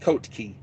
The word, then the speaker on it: Kotke: Kotke is how it's spelled. Kotke, Colt Key. I think that's how it's pronounced. Colt Key.